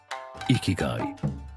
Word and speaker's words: ikigai: Ikigai, pronounced ikigai, meaning your reason for being.